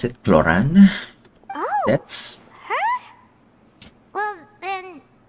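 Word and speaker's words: Clorinde: was M cloran oh so that's how you pronounce it cloran oh that's her well then isn't that as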